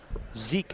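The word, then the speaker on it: Zich: shot clock buzzer and he missed it Ethan Zeke a 6-3 scene or Junior then Adam Eberly six foot Junior Zeke I beg your pardon yeah it's spelled z-i-c-h but you told me that I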